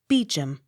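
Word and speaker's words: Beauchamp: e a u c h a m p beacham b e a u c l e r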